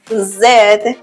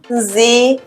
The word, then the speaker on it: Z: Ultimately, the letter Z is pronounced Z in British English and Z in American English.